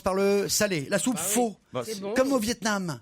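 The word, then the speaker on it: phở: La soupe faux. C'est bon. Comme au Vietnam. Ah, la soupe peu.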